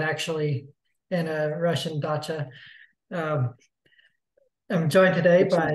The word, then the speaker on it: dacha: I'm joined today by the word is pronounced gotcha well thank you for calling me out people might as I'm not actually in a Russian dacha um I'm joined today